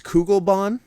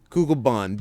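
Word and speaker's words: Kugelbahn: not far i think i believe it's kugelbon kugelbon google bond b try and spell it scott i dare you to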